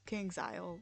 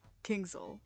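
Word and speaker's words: KingsIsle: in all capital letters, it's very clearly King's Isle. But I just completely say it wrong every single time and wrote it wrong every single time in my script, so I apologize. It's King's Isle, not Kingsville Entertainment.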